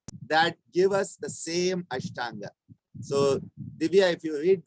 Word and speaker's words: Ashtanga: It's in Tamil, and he calls it Atanga Yoga. Okay, so he mentions it, but he doesn't mention it as Ashtanga, he mentions it as Atanga. Because what happens is in Tamil, sometimes the pronunciation, the words, they have a little difference as it happens in all the languages when it's changed.